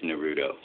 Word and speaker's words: Naruto: be watching pokon no it's the stress is on the N you be quiet it